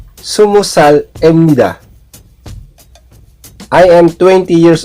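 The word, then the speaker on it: 스무살: Yolyosotsal, Yolilgubsal, Yolyodolsal, Yolahubsal, Sumusal. Ito pong 20 sa Korean numbers ay sumul. So, sa edad, pag sinasabi, sumusal, hindi binibigkas yung riyol, ra, or r sound.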